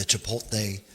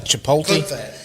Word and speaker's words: Chipotle: No, you say your T is soft. His T was hard. Chipotle or Chipotle? Chipotle, yeah. Okay. Chipotle. Yeah. Well, anyways. You mean it's not Chipotle?